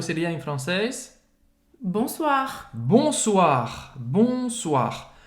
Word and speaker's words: bonsoir: Bonsoir, bonsoir. Bonsoir, O-I, se pronuncia wa. Wa, bonsoir. Mais uma vez, pronunciar o R no final.